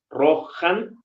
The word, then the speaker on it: Rohan: el plural ririn esa H que tenemos en medio era antes una ch o sea roj en ro es el caballo pero deriva rohan porque ya la la ch ya se encuentra entre vocales Entonces al estar entre vocales se suaviza el sonido rojan rojan se convierte casi nada más en una especie de exhalación del sonido un poquito como en el inglés House entonces Eh así van